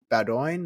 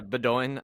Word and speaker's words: Bowdoin: I went to Bowdoin. I might be saying that wrong, but yeah, Bowdoin.